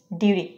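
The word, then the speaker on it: duty: আমরা নিব হচ্ছে ডিউটি ডিউটি এটা ফ্ল্যাপিং করলে উচ্চারণ হবে ডিউটি ডিউটি ডিউটি ডিউটি ডিউরি এটা আমরা সেন্টেন্সে ব্যবহার করতে পারি এরকম ইটস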